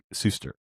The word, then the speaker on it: Suster: The AI told me definitively when I asked that your name is pronounced Suster, and it gave me a little pronunciation guide, big S-U-S-S.